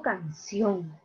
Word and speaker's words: canción: Ah, yo digo canción. Por lo tanto, aquí está la mayor fuerza de voz. Termina en N. Ah, lleva tilde.